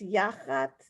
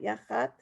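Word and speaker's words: יַחַץ: This is when we remember that when you have that little line that's telling you that that's the syllable emphasized. So it's Yachatz, not Yachatz.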